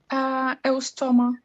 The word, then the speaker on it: Eustoma: I can't pronounce the first one. How do you say it? Eustoma. Ostome.